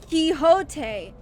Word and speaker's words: Quixote: Quixote. That's right. Well, I'm still pronouncing her key.